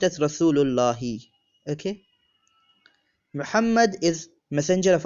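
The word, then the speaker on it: رسول الله: We cannot use al along with Allah, so we just say Rasulu Allahi, or pronounced as Rasulullahi.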